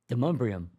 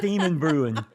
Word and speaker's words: Demonbreun: Say the street name again. Demonbreun. Thank you. It's not Demon Brewin.